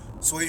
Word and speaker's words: swai: It's SWAI, sway fish fillets.